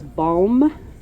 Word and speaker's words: balm: And that's balm with a b a l m. Sometimes people say it and it's like, "Is that balm?" And I'm like, "Balm." Balm, like calm. Rhymes with calm.